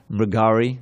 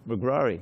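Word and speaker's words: Mṛgāri: transformation of the uh mergari notice the pronunciation there's no second r in there for years you own magrari right didn't you hear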